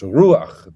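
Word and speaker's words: רוח: So it's ruach. The accent is on the U, and it's just a short A, and the A is written to the right of the chet, not straight underneath it.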